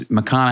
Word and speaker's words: McConaughey: He goes, "Just tell him it's Makana." Hey, rhymes with what would Madonna say.